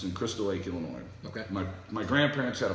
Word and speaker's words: Illinois: Where in Illinois is this? You're so from Nebraska. Illinois, the S is silent.